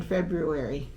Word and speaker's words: February: pronounced they are in February that's just pep peeve it is February there's an R it's not February all